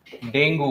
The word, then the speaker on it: Dengue: डेंगू, commonly हम लोग इसको डेंगू बोलते हैं, बट एक्चुअल प्रोनाउंसिएशन क्या है इसका? डेंगी, है ना।